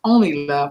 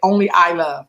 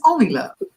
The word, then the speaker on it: OnleiLove: It's pronounced OnleiLove. I would say Only I Love when I was looking at the way it was written, but it's OnleiLove.